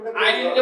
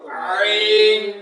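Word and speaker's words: عين: আইন উচ্চারণ হবে না আইনটা উচ্চারণ করার সময় গলাটা একটু চাপ দিয়ে উচ্চারণ করতে হবে তখন ওই বাসির মত আওয়াজ হবেন আইন আইন আইন আইন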